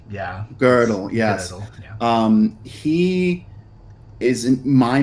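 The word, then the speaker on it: Gödel: girdle I always mispronounce his name because it's pronounced girdle yeah girdle yes um he isn't my mind some uh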